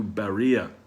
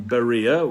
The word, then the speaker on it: Berea: flee this time to berea there's a wonderful monument in berea which is spelled varia these days with a v rather than a b although pronounced the same it's a wonderful monument